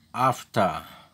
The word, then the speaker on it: after: itu cara bacanya Hai itu airnya tidak bunyi walaupun tulisannya after tapi jangan dibaca airnya AFTA Hai AFTA Hai AFTA AFTA Hai